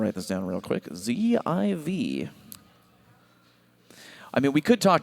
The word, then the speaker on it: Ziv: Please make sure you let everyone know the pronunciation is Z-I-V. ZIV. I thought he told us Ziff.